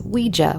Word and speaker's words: Ouija: It is Ouija, which is the proper pronunciation, but I grew up saying Ouija like most of everybody.